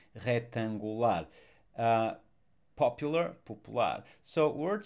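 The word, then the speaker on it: retangular: molecular curricular rectangular rectangular sorry we don't actually rectangular no we don't we don't pronounce the C rectangular uh popular so word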